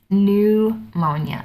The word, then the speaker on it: pneumonia: spelled PN but it's new Monia that first P is silent okay our next category